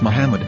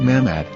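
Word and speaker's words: מחמד: ben yehudas hebrew english dictionary it is correctly pronounced as muhammad not mahmad so how we're going to know for sure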